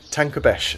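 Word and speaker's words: Tancabești: a lake look at what's the how'd you pronounce the lake okay tank runners lake tanker Besh and what is this there for the leeks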